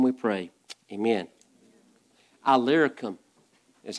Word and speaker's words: Illyricum: Illyricum is how you pronounce that word.